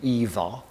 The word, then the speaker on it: Ingvar: He would have pronounced his name Ivar and spelt it Ingvar.